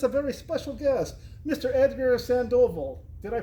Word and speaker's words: Edgar Sandoval: Edgar Sandovville. Did I pronounce that right?